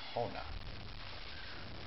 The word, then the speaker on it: Honaw: So this one here is Honaw.